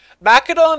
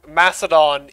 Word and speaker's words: Macedon: that can see you and both are correct macadon is the more greek historical thing i believe macedon is how the modern languages pronounce it for what i know